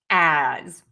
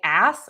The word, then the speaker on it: as: Next up, number eight, we have the word as. And this mistake is because many people say ass with an S. Yes, this word is spelled with an S, but we actually use the letter Z sound.